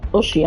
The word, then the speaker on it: Oceania: EU, America, Oceania. Oceania? Or Oceania? I don't know how you pronounce that. Asia. It's Oceania.